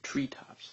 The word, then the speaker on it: treetops: top right here here we have Treetops so we have the stress on the first word Treetops the very tops of